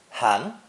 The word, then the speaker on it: 含: This character is pronounced second tone, han, and means to hold something in the mouth.